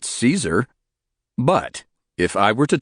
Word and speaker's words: Caesar: His full name was Gaos Ulio Caesar and he was referred to as Gaees by Romans who it is believed pronounced his last name as Kaiser not Caesar.